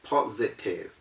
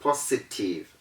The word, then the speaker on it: positive: and we have positive listen how i mentioned the word positive it is not positive it is not positive because the s is between o and i o and i are both vowels and that s is